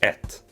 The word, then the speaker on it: ett: So the first number in Swedish is ett. But it could also be pronounced en.